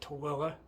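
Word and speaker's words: Tooele: that that incident in TOA Utah t o o l e we pronounce it TOA and um today when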